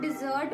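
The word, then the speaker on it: dessert: Basically हम लेते हैं उसे हम डिजर्ट बोलते हैं। कुछ लोग उसे भी डेजर्ट ही बोल देते हैं।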